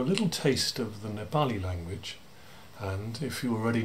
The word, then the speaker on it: Nepali: i am professor of nepali and himalayan studies at soas now note those pronunciations don't you mean nepali people sometimes say don't you mean himalayan no i reply it's nepal not nepal and himalayan not himalayan anyway